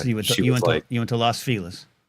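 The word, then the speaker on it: Los Feliz: Yeah, Las Felis. Yeah, exactly. Exactly. I'm sure it's exactly what you all say. Lasis. And uh that's how that's how it's said. We're down with her. I I guys, this is this is the this is the coastal divide here. We would never say Las Felis in Miami.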